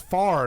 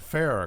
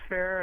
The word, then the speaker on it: Farr: It's Farr, not Farrah, correct? Up north they pronounce it Farr, but down here it's Fair, and we are cousins.